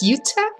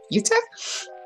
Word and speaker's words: Jutta: my name is pronounced Utah kind of you can remember the state in the US like Utah um yeah so actually